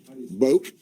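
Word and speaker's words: Boek: Boak, B-O-E-K. That's Polk County pronunciation. So that is subject to modification by someone who may have a different interpretation being the family, but we call him Boak.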